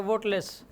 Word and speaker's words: वाटलेस: जो है ये इसको इसका प्रोनाउंसिएशन जो होता है वाटलेस, ये वाला होता है, ये वाला होता है ना, तो ये वाटलेस होता ना ये वोटलेस होता,